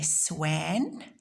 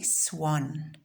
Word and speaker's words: swan: It sounds like an O because that's the way we pronounce it. We don't say swan, we say swan.